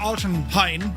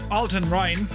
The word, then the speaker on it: Altenrhein: So, we're going to fly out of, uh, Alton Hine. No, Alton Rin.